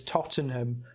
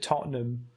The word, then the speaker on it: Tottenham: It's pronounced. It's basically it's written as Tottenham, but everyone calls it Tottenham.